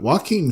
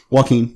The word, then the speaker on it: Joaquin: boy is it it's Joaquin Phoenix he what my different name back fence before I which - Joaquin but okay he's an amazing things one is walking know your I know I always say it wrong yeah okay walk him